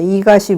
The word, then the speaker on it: EGOT: 그래서 이갓이 무엇이냐? EGOT라고 이렇게 쓰는데 이갓이라고 읽거든요. 여기서는.